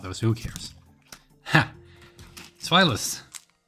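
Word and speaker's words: Zweilous: Zweilus. Zweilus. German pronunciation, right? Because it's zwei, like the other was eins, zwei, and then the last one is drei.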